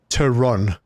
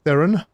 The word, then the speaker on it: Teron: It is very easy to pronounce. Teron. Not Theron. Not Theron. But Teron. But if you pronounced it in Afrikaans, you'd have to roll the R.